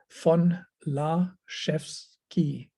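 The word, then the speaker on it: von Laszewski: you're an english speaker the v is pronounced with like an f and the s z is pronounced like a sh like a chef and then uh the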